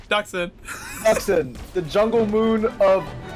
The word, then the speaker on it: Dxun: DXUN, how do you pronounce that? Duxon.